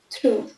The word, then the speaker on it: through: Next, থ্রু, THROUGH, থ্রু। এই স্পেলিংটা একটু beard, অন্যরকম।